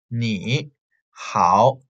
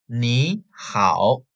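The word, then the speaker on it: 你好: They are both in the third tone, ni, hao. So the first tone has to change into the second tone, ni, ni. So you have to say ni hao, ni hao, ni hao.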